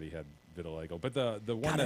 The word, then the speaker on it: vitiligo: I guess they have said he had vitiligo. But the one God, I always want to call it vitiligo. Maybe I'm saying it wrong. No, you're saying it right.